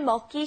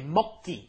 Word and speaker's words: 먹기: The pronunciation here, you have to be careful. You're not saying 먹기 싫어. You have to say 먹기, okay? It gets the 쌍기역 pronunciation, 쌍기역, okay?